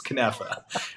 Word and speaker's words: knafa: You sound like you're from somewhere in the West Bank, but it's knafa. It's like with the ka.